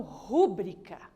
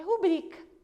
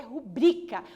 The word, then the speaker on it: rubrica: Muitas pessoas falam rúbrica. O que é rúbrica, professora? É a assinatura ali, né? Não, gente, não é rúbrica, é rubrica. E só quem conhece a língua portuguesa mesmo vai pronunciar corretamente, que é rubrica. A sílaba tônica é no bri e não no ru. Se fosse no ru, teria acento.